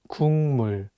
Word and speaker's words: 국물: The consonant 기역 is for G sound in English, so you can read it as 국. But it's paired with the nasal sound 미음, so it changes the pronunciation from a G sound to an NG sound, and you need to read it as 국물.